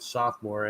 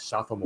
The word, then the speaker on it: sophomore: I'm glad you guys pronounce it sophomore and not like Alex Trebek, sophomore.